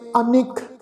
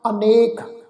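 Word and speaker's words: ਅਨਿਕ: 'च बेनती कीती सी, असल शब्द आ अनेक नन्ने दे उत्ते एक ला नाल, पर गुरु साहिब ने जिहड़ा वा अनिक नन्ने नूं सिहारी दे नाल पाठ उच्चारण कीता, लिखती स्वरूप विच दर्ज भी कीता।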